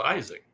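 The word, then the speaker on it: Itzhak: there's a there's a famous violinist called Itak Pearlman. Okay. and he's kept the Hebrew pronunciation of that name. But in America, he would be called Isaac, right?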